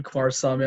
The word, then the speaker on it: Kumarasamy: for having me say my name is brendan quarsami i'm the founder of master talk it's a